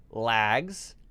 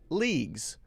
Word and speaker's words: leagues: Short E, then. Short A, and then long E, E-E. Legs, lags, leagues. Legs, lags, leagues.